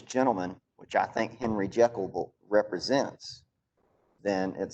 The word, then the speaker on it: Jekyll: that there's a and one of the pronunciations of jekyll that it rhymes with seek and then there's this